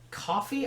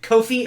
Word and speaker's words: Ko-fi: Like, is it Coffee? I don't know how to say it. It's Ko-fi. Okay, it's Kofi. Yeah.